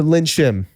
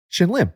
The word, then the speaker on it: Shin Lim: magic that i have yeah shout out to lynn shim yeah yeah what what shin lim oh shin lim that's what i said he